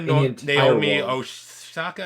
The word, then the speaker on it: Naomi Osaka: Although, congratulations to Naomi Osaka. Am I pronouncing that right?